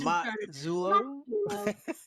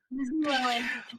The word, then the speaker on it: Mazzullo: Today we have a special guest, Miss Mazzullo, and it's Mazzullo. Is that how you say it? We're doing a little Italian lesson before the yes, Mazzullo. Yeah, Mazzullo.